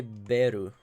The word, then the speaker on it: Beru: I'm gonna call this guy Beru, because like a bell, if you were to pronounce the English word in Japanese pronunciation, it would sound like Beru.